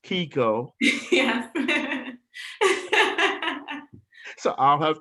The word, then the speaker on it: Keiko: having This is Keiko, who was pronounced Keiko.